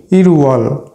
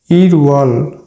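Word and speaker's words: 일월: তার মূল উচ্চারণে উচ্চারিত হবে তাহলে এটার এটার উচ্চারণ হবে ইরওয়াল ইরওয়াল অর্থ জানুয়ারি মাস তাহলে সাইনোকরিয়ানে দুই কে বলা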